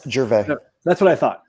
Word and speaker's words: Gervais: No S, Gervais.